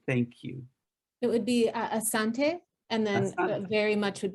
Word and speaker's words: asante: do you say thank you it would be asante and then very much would be asante sana okay and moodle how do you say